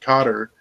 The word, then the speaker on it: Qatar: it's ours Cotter and for the vast majority of my life it was guitar but then I heard people pronounce it Cotter and I think I